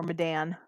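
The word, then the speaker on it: Medan: This one specifically, the Man of Madan or Madan. Mm. I'm gonna say Madan because it rhymes.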